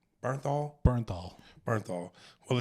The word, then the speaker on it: Bernthal: Have you guys seen the TV show The Punisher with John Berthnol? Is that how you say his name? Bernthal.